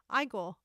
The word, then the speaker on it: Igor: Oh, the Russian pronunciation is Igor with a e for the first sound. But English is Igor. Both are correct.